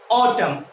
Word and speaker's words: autumn: অটম, অটম, কি বলবো উচ্চারণটা? AUTUMN, অটম।